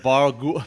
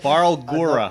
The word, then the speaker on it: Barlgura: The Barlgura. Nope. Barlgura.